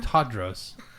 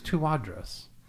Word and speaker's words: Tawdros: Jenny Tawdros. Jenny Tawdros. And I've been saying your name wrong all this time. I've been saying Tawdros, but it's Tawdros.